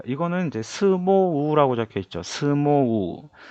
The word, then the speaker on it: 相撲: 자, 에 모음 뒤에 에단음 뒤에 이라는 글자가 와도 장음이고 相撲 자, 스모우라고 적혀 있는데 실제 발음은 相撲 네, 스모예요.